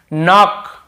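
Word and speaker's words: knock: रखेंगे लिख भी लेंगे के सेलेंट कब होता है एन से पहले के आता है तो सट होता है एन के पहले के देखिए एन के पहले के ये तो आपको पता ही होगा एन के पहले के जैसे देखिए नॉक नॉक खटखटाना नॉक नॉक ऐसा नॉक यहां पर भी के साट होता है नॉक नहीं पढ़ेंगे केवल नॉक पढ़ेंगे वैसे नीड यह हो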